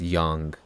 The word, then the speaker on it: Yang: this name yang yang in the ds version it's pronounced yang but i've never gotten used to it but uh sure i'll call him that young young you're bored do